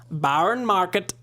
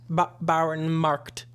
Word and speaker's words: Bauernmarkt: Barn Markt. You don't say market. No, there's no E. No, it's just marked.